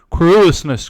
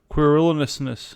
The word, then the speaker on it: querulousness: And to do my business, whatsoever it be, thoroughly, and without querulousness, querulous, oh my goodness, querulousness, fuck.